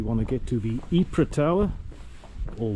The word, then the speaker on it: Ypres: They struggle with the pronunciation of the E, the Y. And I guess with silent S so many just call it Wipers.